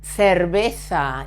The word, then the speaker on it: cerveza: La cerveza, it's beer. Cerveza. C and E, C. Z and A, za. Or in Latin America or southern Spain, cerveza.